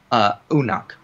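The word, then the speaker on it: Unuk: In Sumerian, as Wiseman notes, the way you would pronounce Urek is Unak, U-N-U-K. So it sounds a little bit more similar to Enoch in that sense.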